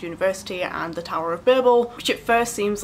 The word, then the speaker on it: Babel: One thing I will address already, the pronunciation of Babel or Babel. ARC Kuang calls this Babel. The British pronunciation is Babel.